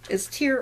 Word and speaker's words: tear: And I'm working on making a tear dress, which is tear or tear depending on how you say it. It's T-E-A-R, and you can pronounce it either way.